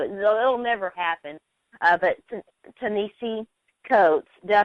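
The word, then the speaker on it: Ta-Nehisi Coates: on this show it'll never happen uh but teni coats did I pronounce that right Ben uhhuh okay he he's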